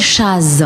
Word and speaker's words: Chazz: Oui, c'est entre jazz, Voilà, entre chat et jazz. chat, jazz, Voilà. jazz. Chaz. Voilà, c'est Chaz.